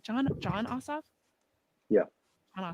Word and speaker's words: Ossoff: John Ossoff? Yeah. John Ossoff.